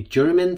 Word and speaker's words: Jermyn: It's 74, yeah, I'm not sure if I'm pronouncing this correctly, German Street. It's not G at the end, it's a J.